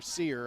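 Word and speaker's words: Serr: Sir on the tackle, or Sear, I think, S-E-R-R, says, pronounced like the old store, Sears.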